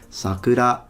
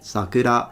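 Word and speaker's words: 桜: If it's a name of a child, it's sakura, so high to low. But if it's the cherry blossoms, is sakura, the opposite, sakura.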